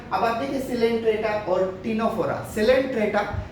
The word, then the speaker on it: Ctenophora: तीसरा फाइलम होता है टिनोफोरा, उसमें हमें सी को प्रोनाउंस नहीं करना होता है, सी को हमें प्रोनाउंस नहीं करना होता है, ये होता है टिनोफोरा, लेकिन सी लिखते हैं उसे, सी साइलेंट होता है।